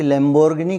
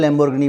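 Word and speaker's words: Lamborghini: रुपए है लैम्बोर्गिनी की, और उसका जो प्रोनाउंसिएशन है ना, उसको जो बोला जाता है, हमारे यहाँ लैम्बोर्गिनी बोलते हैं, वो लाम्बोर्गिनी है उसका प्रोनाउंसिएशन, जिसको मैं भी बहुत अच्छे से नहीं बोल पाऊँगा, और बोलूँगा तो भारत के लोग उसको समझ नहीं पाएंगे।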